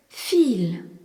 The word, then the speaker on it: viel: C'est pareil dans le mot viel, V-I-E-L, qui signifie beaucoup. Le I-E est un I long et le V se prononce fe. Viel.